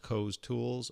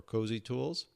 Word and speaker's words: COZTOOLS: It's pronounced Coz Tools or Cozzi Tools.